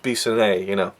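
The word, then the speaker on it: Bissonette: No, it's pronounced Bissonnet, I really enjoyed that little running gag.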